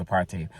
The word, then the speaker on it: apartheid: And remember, it's pronounced apartheid.